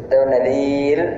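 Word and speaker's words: نذير: അല്ല നദീറാണ് ദാൽ ശ്രദ്ധിക്കേണ്ടതുണ്ട് നദീർ എന്ന് കനം കുറച്ച് ആണ് റ പറയേണ്ടത് കനത്തോടു കൂടെ അല്ല അവിടെ റ നിർത്തേണ്ടത് നദീർ എന്നാണ് നിർത്തേണ്ടത് ഇനി നമുക്ക് ഇന്നത്തെ രണ്ട്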